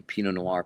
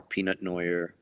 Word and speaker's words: Pinot Noir: We grew up in the business rather pronouncing Pinot Noir peanut noir.